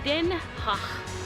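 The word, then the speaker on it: Den Haag: you want to know how to pronounce the heg as a local then you have to say Den H so the G has a nice H sound Den ha hey I was pretty close Den H so here's a fun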